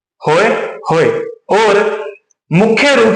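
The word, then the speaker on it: pahoehoe: नाम और भी है जिसे बोला जाता है होय होय जिसमें प साइलेंट होगा यह हमें याद रखना जरूरी है क्या है होय होय प को रखना है साइलेंट होय होय और मुख्य रूप से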